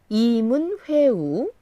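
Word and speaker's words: 以文會友: 이거는 이문회우, 이우보인이라고 읽습니다.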